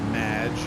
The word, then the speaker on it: Madge: to accept my name it's Madge which rhymes with badge uh as in duh